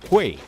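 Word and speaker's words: 怪: Los Kuai del juego, los enemigos que encontramos, es como se pronuncia en mandarín Kuei, o espíritus y demonios malvados del folclore chino.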